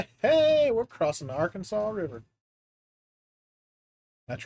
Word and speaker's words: Arkansas: Hey, we're crossing the Arkansas River. That's right. It's Arkansas, not our Kansas.